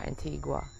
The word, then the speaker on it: Antigua: I'm in the Caribbean, in the island of Antigua, or Antigua, as some people pronounce it.